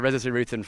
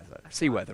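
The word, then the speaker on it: Seewooruthun: Siruthan for Siruthan. Seaworthen. Seaworthen. Sorry, Seaworthen.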